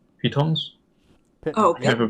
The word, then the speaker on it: pitons: Using the Cyberdyne Systems Control Unit, I shall create 2 pythons. Pitons? Oh, I never pronounce it. Yeah. Pitons.